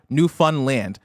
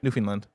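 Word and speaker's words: Newfoundland: um in other words speed up the middle but pronounce land um like you'd pronounce it on its own so land new Fun Land New Finland yep New Finland either Land There we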